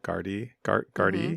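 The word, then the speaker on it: Gardaí: The other thing, well, there was, it's funny, my autocorrect wrote guard, but it meant to, I presume, Gardy.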